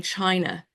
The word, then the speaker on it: Qi: began to operate in China if we think of chi that's Qi Chi as being human vit